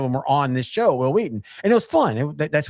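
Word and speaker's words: Wil Wheaton: Will Wheaton had a great series from between like 2011 and 2014 where You're not pronouncing his name right. Will Wheaton. It's Will Wheaton.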